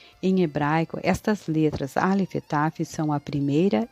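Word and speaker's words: את: Esse Aleph Taf você pode ler Et.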